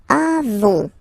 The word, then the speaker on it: avons: Then nous avons. Final S not pronounced.